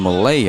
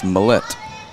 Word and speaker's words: Mallette: for Georgia here and Malay I believe is how you pronounced this last name I can't remember she came in and told us and that was feels like ages ago it's Mallette so Canon Mallette first